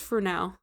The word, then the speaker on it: Fresnel: So a French engineer, Jean-Augustin Fresnel, I said Fresnel the first couple times, but it's pronounced Fresnel.